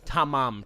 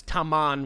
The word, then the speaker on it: Tamam: up in this case it is spelled correctly tamam ta ma m okay okay but for some reason it is widely known as taman with an n because like at some